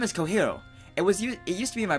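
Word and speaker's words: Cojiro: I do flip the R because that's how it's pronounced, but I'm not going to go... yeah, you know. Okay, fine. Kohiro.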